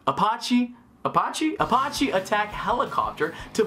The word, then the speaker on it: Apache: send an IH 64 appache I pronounced that wrong tonight Apache Apache Apache attack helicopter